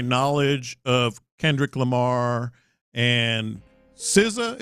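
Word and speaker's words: SZA: of Kendrick Lamar and siza is how you pronounce it right yeah uh and you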